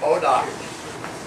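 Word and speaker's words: bois d'arc: Bodoc is a French word for bow wood, because they use that a lot in archery deal. Okay? Bodoc. How do you spell it? B-O-I-S-D-A-R-C.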